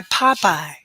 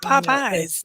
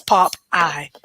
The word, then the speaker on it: Popey: I have to say it like that because people be like, "Oh, you got some of that Popeyes?" It's not Popeyes.